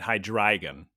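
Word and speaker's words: Hydreigon: one head zvilus which is two zvi and hydragon dry which is three uh so it's like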